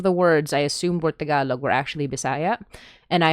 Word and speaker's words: Tagalog: Um, I was doing the thing that English speakers always do, which is putting an emphasis on the first syllable, which is also a